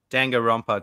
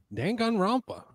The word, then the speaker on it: Danganronpa: Next game is Danganronpa Trilogy. Oh shit, you nailed it. Danganronpa.